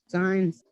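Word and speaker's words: science: अब सी साइलेंट कैसे होता है? देखो, आपने देखा होगा वर्ड, ये क्या लिखा है? साइंस।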